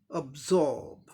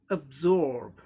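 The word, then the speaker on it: absorb: रॉ का भी उच्चारण सप्रेस करके करना पड़ता है, क्योंकि अमेरिकन इंग्लिश प्रोनाउंसिएशन में आर का रॉ साउंड कहीं भी साइलेंट या ओमिटेड नहीं होता है। ब्रिटिश में साइलेंट हो गया क्योंकि इसके बाद कॉन्सोनेंट साउंड आ रहा है।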